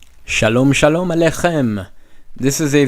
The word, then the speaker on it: Shalom: goodbye and that is Shalom Shalom Shalom okay two syllables and they're both long if you need to